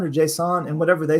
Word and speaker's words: JSON: up on a test pronounce it like the serial killer Jason JavaScript object notation it's